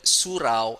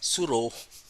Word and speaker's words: surau: our faculty, and then they will pronounce the the word surau as suro, like because AU is O sound.